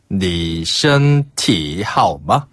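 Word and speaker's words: 你体好吗: 요런 표현이 있어요 니하마 니티 하오마 한번 더 니티 하오마 아 티가 좀 올라가는군요네 니티 하마 그렇죠 여기서 니는 당신이란 뜻이고요 티는 신체 라는 한자를 중국식으로 발음하면 티예요 아 건강하시냐 이것 때문에 그런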